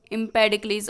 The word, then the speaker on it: Empedocles: अब आर्नोल्ड की Greek theme का मतलब सबसे महान वर्क कौन सा है, वो है एम्पेडोक्लिस, EMPEDOCLES, एम्पेडोक्लिस इसका प्रोनाउंसिएशन होगा, एम्पेडोक्लिस ऑन एटना।